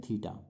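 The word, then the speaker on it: theta: ठीक है, ये नए संकेत हो सकता है आपने पहले नहीं देखा हो, तो इसको जब हम उच्चारण करते हैं, बोलते हैं, तो इसका नाम हम लेते हैं थीटा।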